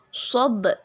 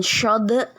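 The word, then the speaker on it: صاد: Kemudian yang kedua ada di situ qalqalah sugro pada bacaan sod, bukan shod tapi sod ya. Yang berwarna biru itu huruf dal yang berwarna biru itu adalah qalqalah sugro. Jadi dipantulkan ya. Sod, bukan shod, bukan shad, tapi sod ya.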